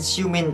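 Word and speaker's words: Xiumin: Đúng rồi đó, tên Siumin đọc sao ghi vậy thôi.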